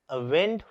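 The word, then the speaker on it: wound: सो यहाँ पे spelling same है मगर प्रोनाउंसिएशन डिफरेंट है, तो स्पोकन इंग्लिश में यहाँ पे फर्क नहीं पड़ता। क्यों? क्योंकि यहाँ पे मैं बोलता हूँ वाउंड और यहाँ पे मैं बोलता हूँ वूंड।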